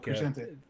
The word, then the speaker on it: Crescente: How do you pronounce Brian's last name? Crescente.